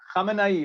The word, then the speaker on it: Khamenei: How do you pronounce it? Khamenei, okay.